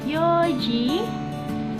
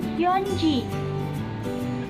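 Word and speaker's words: 四時: Perhatikan pukul 7 dan 4, dan karena bacaannya berbeda dengan angka biasa, pukul 4 yoji bukan yonji. Pukul 7 shichi bukan nanaji. Pukul 9 kuji bukan kyuji.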